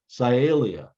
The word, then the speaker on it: Cyalia: And they're all in the same genus, Cyalia. All right, so it's pronounced Cyalia.